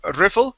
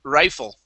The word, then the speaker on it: rifle: rifle one last time so this is instead of riffle it is Ry rifle R fa very good